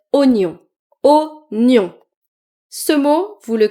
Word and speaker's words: oignon: Par exemple ce mot, vous pouvez lire ou oignon, mais c'est en fait oignon.